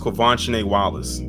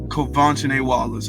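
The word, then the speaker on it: Quvenzhané Wallis: her that was her her her name is pronounced kovan Wallace kovan Wallace okay and this was 10 years ago Lord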